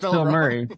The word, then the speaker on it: Bilmuri: Yeah, it's pronounced Bill Murray, but spelled different. Yeah. Oh yeah, Bilmuri, like you said.